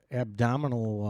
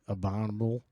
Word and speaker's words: abominable: got really good ABS I think the actual pronunciation is the Abominable about abominable abominable abominable there you go I love a word